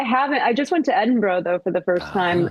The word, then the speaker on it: Edinburgh: learn to pronounce it? Oh, okay, I was like Edinburgh, and my friend was like, "Oh, don't say that. Don't. It's Edinburgh."